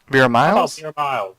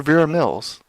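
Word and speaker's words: Vera Miles: in this movie because all she want huh ver miles that's how you call really I've always called her ver Mills it's m i l okay well it might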